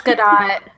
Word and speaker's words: Gadot: Gabby, how do I pronounce it? It's Gadot.